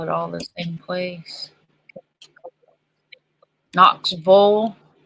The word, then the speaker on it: Knoxville: all the same place Knox bow that's how you pronounce it KNX it's Knoxville not Knoxville oh that's why I'm echoing